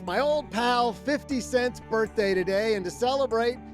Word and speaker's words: 50 Cent: The question was, if 50 Cent, and yes, that's exactly how you pronounce his name, were paid his proceeds for his minority stake in the deal, all in 50 cent pieces.